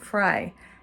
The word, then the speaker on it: Frye: I said Fry, F-R-Y-E. I said, it sounds like French fry, but it's spelled differently.